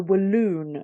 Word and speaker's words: Walloon: So let's talk about this method here, which is, I'm assuming I'm going to pronounce it correctly, which is the Walloon method. Is that correct? Walloon?